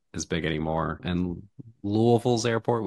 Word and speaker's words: Louisville: as big anymore and Louisville's airport we say Louisville not Louisville but just put marbles in your mouth and try to say it and then then you'll say it right um but I don't